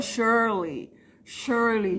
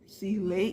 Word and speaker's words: Shirley: ele é um compasso olha shurley Jackson não Shirley não Sirlei e se você pronunciasse Shirley Shirley Sirlei aqui no Brasil tá tudo certo mas se você falar assim com gringo provavelmente ele não vai entender Shirley esse e é